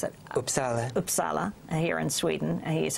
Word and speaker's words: Uppsala: Teachers at University of, how do you pronounce it? Uppsala.